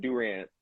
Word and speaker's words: Durant: I said Durant.